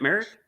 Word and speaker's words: Merritt: Whoa, is it Merritt? Gotta remember. Yeah, it's Merritt. It's spelled kind of funny, but it's in an arena, which is cool.